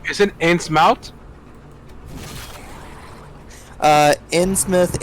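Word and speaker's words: Innsmouth: it ant's mouth uh in smith ins mouth uh it's actually usually pronounced in smith but that's why would you pronounce it differently if that's how it's written in smout because hp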